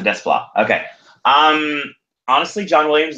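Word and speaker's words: Desplat: pronounced Alexander des bois is the T silent or not um yeah it is it's silence a DES flop okay um honestly John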